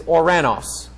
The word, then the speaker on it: Uranos: That's the Latin pronunciation of it. The Greek pronunciation of that planet is Uranos.